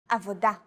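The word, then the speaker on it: עבודה: Stress is usually on the last syllable of the word. Avoda, motzetz, mitlabesh.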